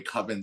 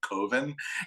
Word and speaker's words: Coven: it's called Coven, but he doesn't like the way Coven sounds because it rhymes with oven, so he calls it Coven.